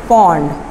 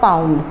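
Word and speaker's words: pond: The correct pronunciation is पॉन्ड, नॉट पाउंड, पॉन्ड।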